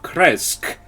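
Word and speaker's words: Krezk: um you are heading to the village of kresg um k r k-r-e-z-k um nice and easy to pronounce that one and then you um and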